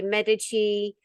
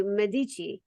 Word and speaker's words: Medici: so many Americans and they say Medici you know but in in Europe like we say Medici Medici and I've been there